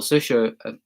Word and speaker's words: Saoirse: Saoirse, really, that's how you pronounce her name.